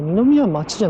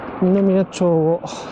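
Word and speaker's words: 二宮町: Về mặt đơn vị hành chính, tôi đã rời khỏi thị trấn Ōiso và đến Ninomiya, Ninomiya thì không phải đọc là "Ninomiya-machi" mà là "Ninomiya-chō" nhỉ.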